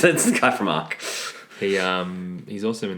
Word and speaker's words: ARQ: of our episodes um how do you say the title again cuz I don't want to screw this up AR okay good it's spelled a arq just in case you wanted to know Robbie is the lead